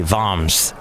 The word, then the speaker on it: Worms: in the town of it spelled like worms but I think they say voms and there we and